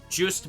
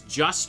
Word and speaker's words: Juste: Juiced Belmont is like juiced is like a French name. A lot of people think it's just or just a day, but it's not.